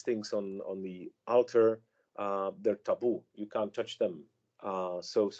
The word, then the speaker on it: tabu: were in already, and we pronounce them taboo.